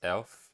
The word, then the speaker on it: elf: 11 is pronounced elf.